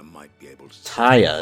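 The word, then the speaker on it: Tarja: Lady Tyre might be able to... Taya, that's how you pronounce it.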